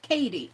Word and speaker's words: Caddy: Caddy is my mom. Pronounced Katie.